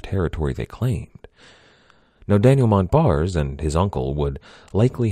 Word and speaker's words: Montbars: point out that Daniel Montbars did not pronounce his name that way. He was French, after all. His last name was pronounced something a little closer to Montbar, but in the interest